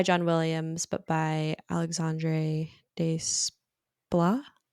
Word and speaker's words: Desplat: And then we have a score not by John Williams, but by Alexandre Desplat.